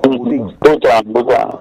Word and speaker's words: Boutin: ¿Cómo se pronuncia? Boutin.